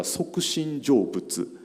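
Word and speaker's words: 即身成仏: Japanese pronunciation is a Sokushin Jobutsu.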